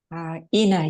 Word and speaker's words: Ina: Ina, is that? Ina, yeah, it's correct pronunciation.